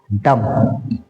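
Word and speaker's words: dumb: है next word है डम डम में भी भी साइलेंट रहता है डम इसको ड म बोलेंगे नेक्स्ट थ वर्ड है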